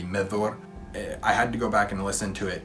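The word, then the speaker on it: Medhor: it was that he was saying medor which the pronunciator the writing is m-e-d-h-o-r that's the spelling of that name but the pronunciation of dh and tolkien's works is a sound and so it should be methor i had to go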